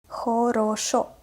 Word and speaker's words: хорошо: So if you found these words where O is pronounced as A, you will have this list. Вокзал, лето, город, Россия, утро, хорошо, это.